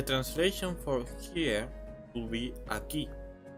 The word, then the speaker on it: aquí: Yo estoy aquí. So do you see the Q? The Q, well, it's actually the same page. The Q always goes with an U, and usually the U is not pronounced ever.